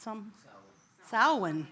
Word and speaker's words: Samhain: Samhain, thank you, and the Mexican observance of Dia de los Muertos.